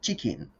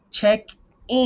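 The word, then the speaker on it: check-in: You said chicken. Pronounce Check it in desk. check in Free.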